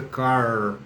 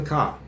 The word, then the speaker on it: car: I drive the car, não é car, você não pronuncia, é igual no Brasil, você não pronuncia o R no final.